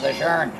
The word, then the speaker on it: Lejeune: They pronounce it Lejeune. Yeah, I don't know where the R comes from, but yeah, so the Lejeune.